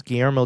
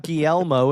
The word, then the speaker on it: Guillermo: It's not Guillermo, it's Guillermo. Guillermo. There you go. You're just trying to Guillermo. roll your R and you end up making an L sound.